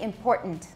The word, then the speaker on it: important: I say important.